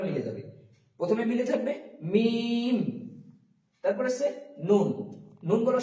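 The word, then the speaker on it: ميم: তো তারপর আসছে মিম। এখানে মিম। মিম একদম সোজা মিম দুটো ঠুট একসাথে মিলিত হবে। মিম এবং লাস্ট আবার একবার মিলে যাবে। প্রথমে মিলে থাকবে মিম।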